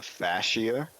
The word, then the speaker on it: fascia: say it because like fcia fascia fascia fa versus Fay F wait a minute